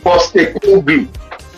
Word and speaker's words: Postecoglou: It's pretty straightforward. Postecoglou. Just remove it. Just as how it's spelled.